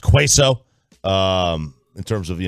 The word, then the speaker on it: queso: uh let's see uh by the way it's pronounced queso um in terms of you know i said